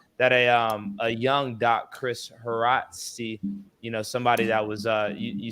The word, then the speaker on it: Haraszti: Yeah, Haraszti. That's perfect. Haraszti.